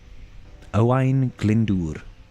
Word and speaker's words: Owain Glyndŵr: How do I pronounce Owain Glyndŵr? Owain Glyndŵr.